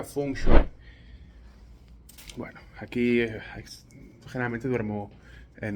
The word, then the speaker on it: feng shui: En español mucha gente no sabe pronunciarlo y le dice fengui, pero se pronuncia fungui.